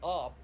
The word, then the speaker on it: AWP: in in cs go it's just pronounced op it's spelled awp in csgo it's not operator like